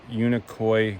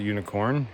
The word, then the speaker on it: Unicoi: coming out of unicorn Unicoi Gap not unicorn a lot of people pronounce it unicorn yeah yeah it was